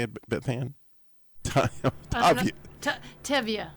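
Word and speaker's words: Tevye: And let me just tell you, the more that you are dedicated, and you're like Tiva, or tell you how you say it, Beth Ann? Tevya. Tivia, I was ready for it.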